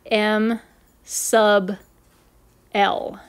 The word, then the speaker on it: m sub l: quantum number is abbreviated lowercase m with a lowercase italicized subscript l we pronounce that m sub l the magnetic quantum number